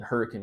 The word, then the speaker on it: Hurricane: School okay down there and then uh in Hurricane Utah that is the correct pronunciation yeah it is the correct pronunciation yes